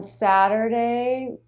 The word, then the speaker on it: Saturday: Nice flap T there. Saturday, Saturday. Saturday, Saturday, So we switch from the flap right into the schwa R, unstressed syllable of Saturday. So the front of the tongue will flap against the roof of the mouth and then pull right back a little bit to the R.